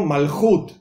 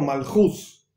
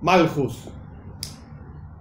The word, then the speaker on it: malhut: Por ejemplo, malhut es la pronunciación correcta, o malhus, y no malhus.